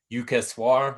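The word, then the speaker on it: Yukteswar: uh the holy science by uh swami shree jukesha but it's spelled like yukaswar like y-u-k-t-e-s-w-a-r they have like uh passages from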